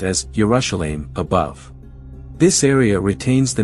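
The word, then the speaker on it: ירושלים: The flag of Jerusalem displays the lion of Judah in the center with the inscription Jerusalem in Hebrew pronounced as Urashelim above.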